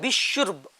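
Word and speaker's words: بشرب: कुछ बच्चे बिशुर्ब कह रहे हैं, क्या सही प्रोनाउंसिएशन? बिशुर्ब, ठीक है, बिशुर्ब सही हाँ, pronunciation। रा पर रा साकिन है जज्म में। और कोई चाहे तो बिशुर्ब भी कह सकते हाँ, हैं।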